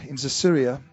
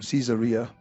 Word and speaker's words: Caesarea: There was a certain man in Caesarea, or Caesarea, as Fiona taught us, the right way to say it, called Cornelius, a centurion of what was called the Italian regiment.